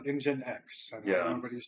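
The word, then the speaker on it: nginx: So what is engine X? That person is Oh, you're asking the question from the person posting. Yeah, Lord Kahiba says engine X.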